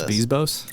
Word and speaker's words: Bezos: As a showrunner, of course, like it does not matter if Jeff Bezos says, "Hey, man, we're making eight seasons." It's pronounced Bezos.